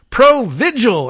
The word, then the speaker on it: Provigil: under the title of it's pronounced Pro vigil and I believe that's